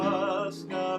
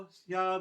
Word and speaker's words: hacia: do in Spanish, and the H is silent, so the O and the A in that con su esposo hacia Belén all run together.